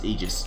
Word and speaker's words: aegis: saying EO and then I actually looked it up discovered he was pronouncing it right I'm like God damn it God damn it stupid sexy molini why are you always right so as it turns out despite the fact I may think that ages sounds cooler correct ways to pronounce egis so I do that